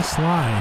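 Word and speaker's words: Slye: That is why you go get yourself a Joey Sly. A lot of the things that you can do about kicking rhymes with Sly, you know?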